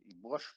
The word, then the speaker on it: борщ: Борщ правильно произносить. Не борщ.